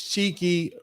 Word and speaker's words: Chikei: Now, Rick Chow's full name is Cheeky Rick Chow, and that is spelled Chikei, Rick Chow.